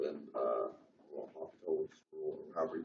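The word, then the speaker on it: L'Hôpital: derivative was 0, then L'Hopital's rule, or however you pronounce it, wouldn't be useful. L'Hopital's? L'Hopital's? No, it's L'Hopital. It's L'Hopital.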